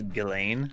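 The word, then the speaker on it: Ghislaine: Maxwell or Jeff e is their name actually pronounced Elaine I believe so yeah the English language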